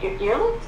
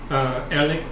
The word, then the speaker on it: Erlich: How do you say his name? Earlicht? Yep. Erlich.